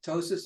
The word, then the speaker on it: ptosis: it doesn't make sense tosis again silent P what the heck anyway